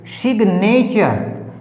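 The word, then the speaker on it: signature: DESIGN design, तो यहाँ पर जो है G हमारा साइलेंट है। ठीक है। अब नेक्स्ट देखिए, जो एक्सेप्शन अपवाद है, कैसे अपवाद बने वो? सिग्नेचर, देखो साइन से बना है सिग्नेचर, सिग्नेचर सिग,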